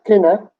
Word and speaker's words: kina: Well, I'll start with who is Kina, K-I-N-A. Kina. Kina. Kina. Yeah. That's who. Same K as in kin, like next of kin.